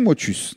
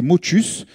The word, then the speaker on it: Motus: Donc, oui, pour la prononciation, on me l'a demandé, c'est motus. Il y a une partie des gens, je ne sais pas qui ils sont, quels sont leurs réseaux, ils sont bizarres, ils disent motu. Il y a un S, on le prononce, sinon on aurait mis motu.